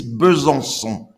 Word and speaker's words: Besançon: The name of the city is Besançon.